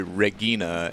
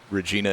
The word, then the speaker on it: Regina: would be Regina and in church Latin it would be Regina you guys still watching and in like European countries that use romance languages where Regina is still a name that people have they say it Regina I don't see the